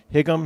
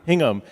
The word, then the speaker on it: Hingham: stomping grounds and um is it pronounced um hium Hingham ham Hingham yeah yeah the unitarians don't have